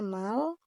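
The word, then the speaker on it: 말: Ini bacanya mal. Mal ini dari konsonan M, lalu ada huruf vokal A, dan bacim R, gitu.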